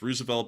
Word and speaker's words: Roosevelt: you know and that's also the correct correct pronunciation is Rosevelt but beyond that the uh Rosevelt carrier strike